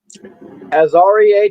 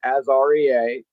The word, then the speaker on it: Aaria: Uh, Aaria Thomas. That's how you pronounce his name. A Rea.